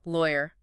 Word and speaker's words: lawyer: Lawyer. Different vowel sounds in the middle there. Lower. Lawyer. Hear it. It's subtle, I know, but important.